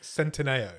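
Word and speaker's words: Centineo: done Noah I actually found out how you pronounce his name right it's centino okay I'm not going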